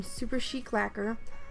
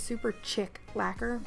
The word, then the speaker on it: Super Chic Lacquer: using dirty laundry from super chic lacquer I always want to call this super chick lacquer but that's not how it's pronounced this is a gorgeous